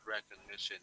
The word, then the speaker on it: recognition: No, and because this word is a word that ends with ion, so Yes, okay, very good answer, Trees. So basically, the stressed syllable of this word is the third one, okay?